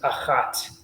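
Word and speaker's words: אחת: listen carefully um right we have Ahad with the dalit the D sound at the end for the masculine and then for the feminine it becomes ahat it's hard right right exactly right and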